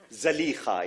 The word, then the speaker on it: Zalīkha: Zalīkha is correct pronunciation.